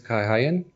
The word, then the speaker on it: Kay Hayen: thank you for having me my name is Kai haein pronounced chairman and well I'm I'm a father of